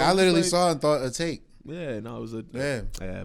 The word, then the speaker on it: Atake: I at first I was pronouncing it Atake. Same, You know, my whole Japanese shit. But he was like, yeah, it's on the album. It says Eternal Take.